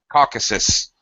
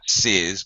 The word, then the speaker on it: Caucasus: You actually saying it right. Caucasus. Sus. Caucasus. Not sis, but sus. That's Caucasus, okay.